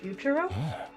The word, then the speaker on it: Futurum: Futurum. That's the name of this planet. That's how it sounded pronounced in the local tongue.